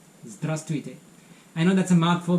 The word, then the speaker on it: здравствуйте: But usually the second V is not pronounced so much, so it sounds more like здравствуйте. Здравствуйте.